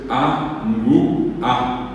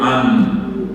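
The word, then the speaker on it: angu'a: como si la veo Yo no digo ano la la forma correcta dec laar es a y después l como es una sola consonante no se puede separar la n de la G se pronuncia en una sola s ng entonces la primera sílaba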